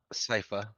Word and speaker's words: Sypha: I think I pronounced it right. Is it Sypha? Sypha.